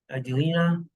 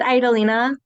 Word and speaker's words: Adelina: Adelina? It's pronounced Idalina.